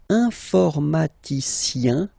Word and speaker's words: informaticien: And the last group is IEN, informaticien, yin, yin, yin. So that's the way to pronounce this IEN, yin, yin, okay?